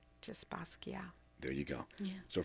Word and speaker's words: Basquiat: Basquiat. Basquiat. It's like Baskeea. Do not pronounce the T. Just Basquiat.